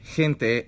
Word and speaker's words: gente: Then we're at G, which is pronounced H when followed by E or E, like gente, and G otherwise like gato.